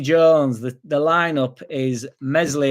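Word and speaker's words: Meslier: the the lineup is Mesley yeah silent s in net Byron right back furo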